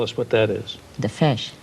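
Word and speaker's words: Feis: The fesh. You mean the fesh is F spelled F as in Frank E I S.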